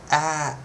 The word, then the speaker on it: at: at at now at no don't say a say at now what I like to do to teach students is it's a sound a t right a t one vowel but it's actually kind of a double vowel sound at at at at